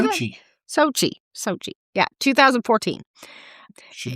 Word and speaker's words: Sochi: Sochi.